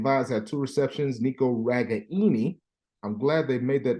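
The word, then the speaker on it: Ragaini: and said hey man my name is not right Gainey it's ragani David you know it's one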